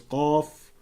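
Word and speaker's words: ق: As for Qaf, the vast majority understand that the pronunciation of it is that it's to be pronounced as Qaf without any further emphasis on the fa in the word.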